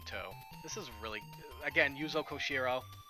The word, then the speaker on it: Yuzo Koshiro: this is really again yuzo koshiro I think I'm pronouncing his name right it's not kuzo yoshiro no it's koshiro I gotta stay hydrated